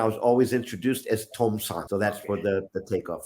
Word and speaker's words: Tom-san: So my name is Tom, and the honorific term in Japan is san. So 3 happens to be the same word, the same pronunciation, san. So we have Tom-san, and then we have the number san.